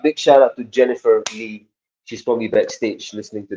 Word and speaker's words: Le: wondering if your surname is pronounced as Le or Lee yeah good question it's Le l e so it's a